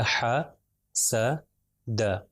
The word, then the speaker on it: حسد: ہو جائے گا حسد۔ دیکھیے میں تینوں کو برابر اس کی جتنا کھینچ رہا ہوں تینوں کو برابر ہی کھینچ رہا ہوں، زیادہ پرولونگ نہیں کر رہا، ملٹیپلائی بائی 1، حسد، حسد۔ اگر میں کہوں حاسدہ